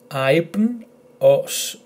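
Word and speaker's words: άυπνος: So instead of saying af or av, we say I, I. A-I-P-N, aipn, os, aipnos, aipnos.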